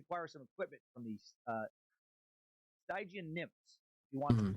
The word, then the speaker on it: Stygia: That's how you say it, not Stygian. Stygian. The problem was that only the 3 Gray Sisters knew the way to Stygian.